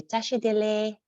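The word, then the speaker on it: tashi delek: So although it's spelled delek, the K is we kind of drop the K. So we say tashi dele.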